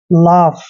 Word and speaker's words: laugh: जब भी U और GH तीनों लेटर इकट्ठे आते हैं तो इसको हमें फै पढ़ना है, ये ध्यान रखना है।